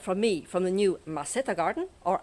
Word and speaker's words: maceta: So for the moment, from me, from the new maceta garden, or maceta garden to be absolute perfectionist, because in Spain the C is pronounced th, maceta garden, I'm going to see you here next week in Granny's garden.